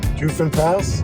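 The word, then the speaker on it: Ofen Pass: Ufan Pass? Ufan Pass? Is that how you pronounce it?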